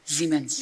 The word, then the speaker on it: Siemens: Is it pronounced Siemens or Siemens? Siemens.